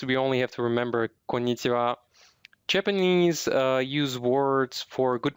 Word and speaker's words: こんにちは: The final syllable of konnichiwa is actually a topic marker. It's written as ha, but it is pronounced as wa.